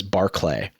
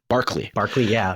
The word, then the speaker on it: Barclay: It's always very important to me that I pronounce people's names correctly because my last name is Barclay, and everybody wants to call me Barkley. Barkley.